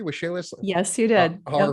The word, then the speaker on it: Waxela: Did I pronounce that correctly? Waxela?